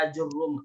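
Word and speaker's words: آجرّوم: Ajurum, hamzahnya dibaca mad, terus jimnya dibaca dhammah, ajurum, dan rohnya dibaca tasydid ya.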